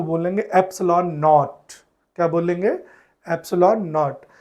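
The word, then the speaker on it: epsilon: इसको लिखने के लिए हम एप्सिलॉन इंग्लिश में बोलेंगे, स्पेलिंग है EPSLON, एप्सिलॉन, और इसके लिए सिंबल है ये।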